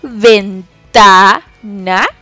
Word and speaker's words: ventana: Por ejemplo, ventana. Yo acentúo, subo un poquito más la voz en la sílaba ta.